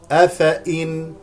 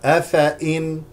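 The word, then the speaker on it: أَفَإِين: أفإن هكذا نقرأها، أفإن، هذه الياء لا تلفظ، ضعفوا، ضعفوا بضم العين والفاء، العين والفاء مضمومتان، يميز الخبيث، يميز بفتح الياء الأولى وكسر الميم مع المد الطبيعي.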